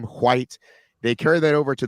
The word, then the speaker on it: Heather White: and that is how you say her name, White.